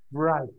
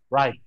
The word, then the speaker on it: write: Bukan dibaca write atau write atau yang lainnya, tapi write. W-nya nggak dibaca. Bukan... Bukan seperti ini, bukan bright. No, bukan bright, tapi right. W-nya hilangkan sekalian, langsung right.